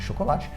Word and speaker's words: chocolate: Primeiro é esse som de chocolate, esse porque o CH em português, tipo chão, cachorro, esse som de X, só que no inglês o CH tem som de tipo tchau, então é chocolate.